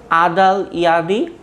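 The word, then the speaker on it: อดุลยเดช: ঠিক আছে, আবার বলছি, আদাল ইয়াদি অথবা আদুল ইয়াদি। এখন দুটা প্রোনাউন্সিয়েশনই কারেক্ট। যেমন নর্মালি যদি তুমি এক্স্যাক্ট একেবারে স্ট্যান্ডার্ড প্রোনাউন্সিয়েশন ফলো করো তাহলে সেক্ষেত্রে এটা কিন্তু আসলে আদাল ইয়াদি হয়। ঠিক আছে, আদুল ইয়াদি হয় না, কিন্তু এটা কিন্তু আদাল ইয়াদি, আদাল। ঠিক আছে, আদাল ইয়াদি।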